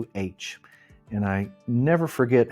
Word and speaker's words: Popol Vuh: He is a Quiche Mayan, and he calls it the Popol Vuh. And it's how he pronounces the vu sound. And I do a little bit myself pronounce it vu.